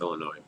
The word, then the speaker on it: Illinois: to is in Schaumburg Illinois we're from Illinois by the way Schaumburg Illinois cz's don't ever pronounce the S at the end of Illinois it's like Des Moines